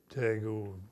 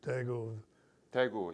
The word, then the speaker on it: Daegu: We went up Punch Bowl and then Tago. I don't know if I'm pronouncing that. Daegu, yes.